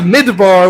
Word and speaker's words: midbar: And it's called a midbar with the M sound at the beginning, which grammatically shows us that the speech is like something that was spoken.